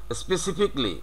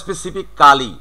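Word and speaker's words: specifically: বাট এটার সঠিক উচ্চারণটা হচ্ছে কি, ওই যে একই রকম, স্পেসিফিকলি, নট স্পেসিফিক্যালি।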